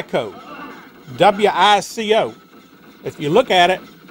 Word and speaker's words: Wico: okay so as you can see it's pronounced wico go figure uh anyway these Data East joysticks are whitco eight-way rotary joysticks and these are made by